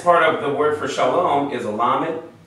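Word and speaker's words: שלום: what okay now so the breakdown in syllables you have a open syllable here sha your mouth stays open and L the closing consonant is what gives it a it makes it a close syllable okay Shalom okay so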